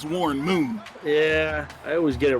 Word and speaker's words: Warren Moon: And decent return there by Warren Munn. That U it's a long U there. That's Warren Moon.